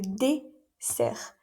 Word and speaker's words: dessert: Le dessert. Cuidado también con la pronunciación, aquí sería s. Existe otra palabra muy similar que es le désert y es el desierto. Así que cuidado con la pronunciación.